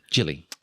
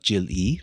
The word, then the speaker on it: Jilly: And it's Jilly. Jilly. Like, not Jill-E, like Jilly. Jill Lee. Jill Lee. Yep.